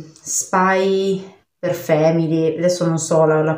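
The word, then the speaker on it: Spy × Family: l'ho sempre solo letto, essendoci una X in mezzo, quindi per me è un per.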